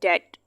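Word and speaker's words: debt: अब यहाँ पे याद रखने वाली बात यह है कि यहाँ पे जो बी लिखा हुआ है ना, ये वाला बी साइलेंट है, हमने इसको प्रोनाउंस नहीं करना। आप यूँ समझ लें कि यहाँ पे लिखा ही नहीं हुआ है।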